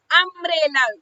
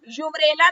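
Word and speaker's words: umbrella: Vowels है तो अ ऐसे ही डैश अंब्रेला। यूंब्रेला तो नहीं बोलते ना इसको। अंब्रेला अ साउंड आ रहा है ना?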